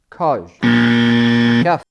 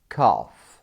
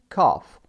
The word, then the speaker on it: cough: ك ك ك اي اي اي كح اللفظ الصحيح هو كف كلمه كاف تاتي فيرب اور ناون بمعنى يسعل او سعال اللفظ الصحيح مثل ما حكينا كاف كاف مثال تابعني لنصحح مزيد من الاخطاء الشائعه بنطق الكلمات باللغه الانجليزيه Yeah.